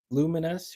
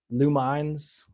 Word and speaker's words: Lumines: Most mispronounced game in the world. Lumines. Luminous.